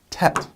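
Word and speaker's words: טית: that and after our head we have our Tet and Tet has a little tilde here in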